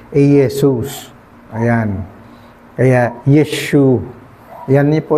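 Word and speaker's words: Iesus: walang letter J the same sa latin wala rin ano eesus po yan. Letter I, letter E, letter S, letter U, letter S. Aesus.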